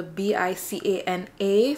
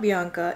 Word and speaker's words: Bicana: when they see the B-I-C-A-N-A. Some people may think it's Bianca, but it's not Bianca. It's Bicana. My name is Bicana.